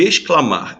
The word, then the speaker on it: exclamar: Aqui nós temos, olha só a diferença de exclamar. Exclamar, o X é pronunciado ex.